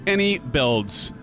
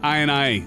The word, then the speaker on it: iniBuilds: Captain howy Sim fanatic it's pronounced any builds not I and I silly Sim thank you